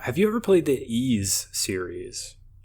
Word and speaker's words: Ys: been playing um have you ever played the ease series spell that y s no I don't know what